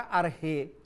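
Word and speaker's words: ἀρχή: cuando dice en argel la palabra arjé se puede pronunciar también ar que k h k h al final ar que de dónde viene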